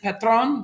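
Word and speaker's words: Patrón: so it is petron okay so that is petron that is how it's pronounced i'm michael gall good morning jolene is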